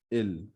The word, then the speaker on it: ils: is nu for v next we have ill and l again the s is not being pronounced and it is sounding same as the singular ill l which we said for he and she and also we notice